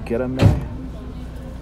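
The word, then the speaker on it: Göreme: I think I said it wrong. So Goreme, and it's about 7 p.m.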